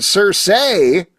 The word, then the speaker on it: Circe: humans to do her dirty work so when cers say which I have discovered is how you pronounce the character's name surprisingly different than I